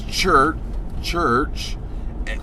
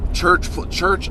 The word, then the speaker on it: Chrch: Chrch opened the show. I knew nothing about Chrch. If you know their name, it's spelled CRVCH, which is the old English way of spelling it, I believe.